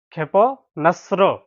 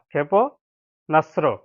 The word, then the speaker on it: ক্ষেপণাস্ত্র: ক্ষীয় একার, ক্ষীয় একার প ক্ষেপ, ন আকার দ্বৈত স সংযুক্ত তরফলা, ক্ষেপণাস্ত্র, ক্ষেপণাস্ত্র। ক্ষীয় একার প ক্ষেপ, ন আকার দন্ত স সংযুক্ত তরফলা, ক্ষেপণাস্ত্র, ক্ষেপণাস্ত্র, ক্ষেপণাস্ত্র।